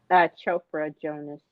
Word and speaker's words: Chopra Jonas: Chopra Jonas.